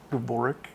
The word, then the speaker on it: Goric: um name is goric um I always think go for a rook that's what I think